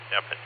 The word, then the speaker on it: Stephen: So it's S-T-E-P-H-E-N, but everybody says Stephen, but I pronounce it Stefan.